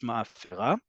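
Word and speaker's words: מאפרה: past as well, but it is pronounced ma'afera.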